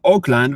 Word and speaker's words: Auckland: that's what actually that's how it's let's say pronounced in in United States. But Auckland, I mean Auckland, New Zealand, which is quite far away if